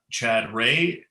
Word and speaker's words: Chad Rea: um yeah so uh chad ray is how you pronounce my name and uh i'm a